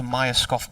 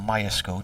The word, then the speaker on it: Myerscough: Came through Durham's academy, but there's quite a few players from that area who go to Myerscough College, or Myerscough, depending on how you want to pronounce it.